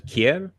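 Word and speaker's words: Kjær: I can't pronounce his name, but is it Kjaer? The real pronunciation is Kjaer.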